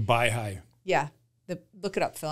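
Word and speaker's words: Baihai: okay it's called the I'm going to pronounce it wrong by by high I think it's b a i h a i Resort the by high yeah look it up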